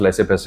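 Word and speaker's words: laissez-passer: United nation लेसे पैसे I mean इसका प्रोनाउंस लेसे पैसे होता है राइट तो आपके पास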